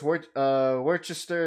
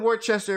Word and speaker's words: Worcester: Douglas on says Worcester is like Leicester.